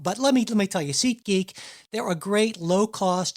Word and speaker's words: SeatGeek: I've been told that actually they've been a sponsor for a little while now, and apparently my pronunciation sometimes a little off. SeatGeek. I sometimes don't enunciate my T's.